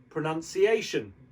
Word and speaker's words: pronunciation: So that word would be pronounced pronunciation, shun at the end.